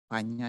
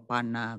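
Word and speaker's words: paññā: Jadi aksaranya itu dibacanya, tulisannya itu seperti kata nyana itu dibaca nyana, panya dibaca panya. Saya rasa udah umum. Tapi bagi yang tidak tahu biasanya sering terjadi kesalahannya di sini. Orang yang tidak tahu mengatakan nana atau pana begitu. Tapi bagi orang yang sudah mempelajari bahasa Pali tentu akan bisa membacanya. Ini nyana, ini panya.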